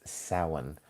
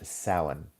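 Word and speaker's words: Samhain: And its original name is sin. I will spell it. It doesn't it doesn't sound anything like it's spelled uh in English sin.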